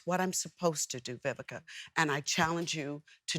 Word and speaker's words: Vivica: me with that because growing up uh people couldn't pronounce my name i was my vika vivisha everything but biblica okay and so i was